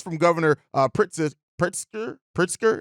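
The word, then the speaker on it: Pritzker: Governor uh prit pritsker pritsker is the thing is how you pronounce it um as far as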